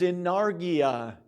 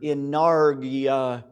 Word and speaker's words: enargia: the end inergia and the other is in nargia with an a in the middle of the word inarga not like energy but energy right there